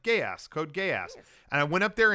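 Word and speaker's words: Code Geass: Yeah, it was Code Gay Ass. Yep. I asked everyone at the show, hey, how do you pronounce that? And they said, yeah, gay. It's like gay ass, Code Gay Ass.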